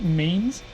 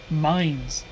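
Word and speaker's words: Mainz: name H hill now am I pronouncing it right Mains cuz we have an us main like this with an e instead of a z what is it pronounced names or differently it's me mines see I had a feeling I was going to say it wrong going off of how the US says main gotcha you know it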